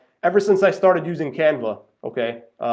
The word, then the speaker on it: Canva: See, it's not Canvas, it's, spell it out for you.